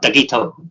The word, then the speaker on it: Dougieto: I think a lot of people think it's Italian, but no, it's meant to sound Japanese, so it's meant to be pronounced like Dougieto, like that.